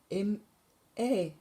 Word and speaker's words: Maj: In Denmark, May is spelled M-A-J. And we say Maj.